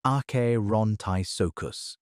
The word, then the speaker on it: Acherontisuchus: Cerrejon was home to a 15-ft Dyrosaur called Acherontisuchus, pronounced ah-keh-ron-ti-soo-kus, as well as a smaller dyrosaur called Cerrejonasuchus that maxed out around 7 ft.